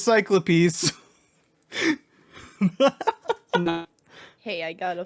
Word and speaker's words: Cyclopes: pronounced it Cyclopes. I did too. Cyclopes?